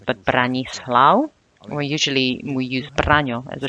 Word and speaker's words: Branislav: Now, Renata is quite easy to pronounce, but Branislav, we use Braňo as a shortened form. Branislav is a bit more formal, but it's long because it has 3 syllables in it.